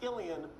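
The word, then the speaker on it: Cillian: Killian is interesting fact about his name, it's pronounced Killian when he does drama, when he does comedy, it's Sillianne.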